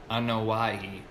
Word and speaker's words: Anoa'i: Liati, Joseph, Anoa'i. Oh, that was a good pronunciation.